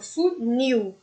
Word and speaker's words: funil: Como não tem o acento, então a gente precisa perceber qual é o som forte. Então, funil. O nil é muito mais forte que o fu, ou seja, se trata de uma oxítona.